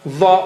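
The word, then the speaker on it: ظ: Very thick and high sounding. High sounding. No? You don't say Dha, Dha, Dha. High sounding and very thick.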